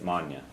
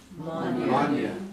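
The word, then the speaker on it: m'fháinne: Now, when you eclipse an F, it becomes FH, which is silent in Irish. And so what we do is we basically combine the mo with the following words. So instead of saying mo anya, you say manya.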